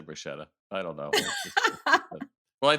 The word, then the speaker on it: bruschetta: have a friend of mine she's like it's bruschetta I was like oh I got schooled I